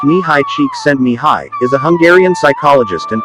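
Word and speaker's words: Csíkszentmihályi: of flow and focus mahali chicks and nihai pronounced knee high cheek send me high is a Hungarian psychologist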